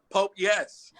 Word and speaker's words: Popeyes: had louisiana fried chicken pope yes i said that's popeyes what am i doing in my life that i can't be with women that can't pronounce popeyes that's one of my